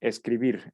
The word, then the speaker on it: escribir: Tenemos escribir. Escribir, sabemos que, pues, si lo dividimos en sílabas, la que pronunciamos con mayor intensidad es vir.